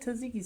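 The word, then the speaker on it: tzatziki: the Z you do it said it said taziki sauce taziki sauce the te first tea is pronounced but the second is z so interesting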